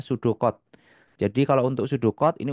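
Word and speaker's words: pseudocode: Kita bisa juga menuliskan namanya dengan ee pseudo ya, tulisannya pseudo ya, bacanya sudocod.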